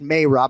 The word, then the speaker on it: Merab: All right, so you nailed Merab, right? We go Merab on broadcast. We'll bring you the file, but it is in fact Merab.